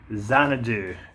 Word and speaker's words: Xanadu: It's a movie called Xanadu. Kind of rhymes with dog poo.